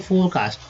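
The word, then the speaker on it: forecast: लोग बोलते हैं, फोरकास्ट, यहाँ लोग उच्चारण करते हैं फोरकास्ट, लेकिन बोलेंगे फोरकास्ट, आर का उच्चारण नहीं के रूप में करना है, तो फोरकास्ट।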